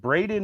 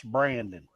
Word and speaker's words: Braden: Like, and Braden is 21 years old. And to this day, that old man still calls him Brandon. Brandon. Yeah. I'm like, it is spelled Braden. That's Braden. No, that's Brandon.